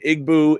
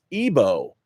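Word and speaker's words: Egbo: TC says I'm Nigerian egg boo is pronounced ebo ebo okay man I'm really sorry how I brutalized all of my Nigerian names so ebo I would how I would never have known that the G would mess me up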